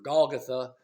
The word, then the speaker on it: Golgotha: The meaning of the name, or Golgotha, would be the right way to pronounce it.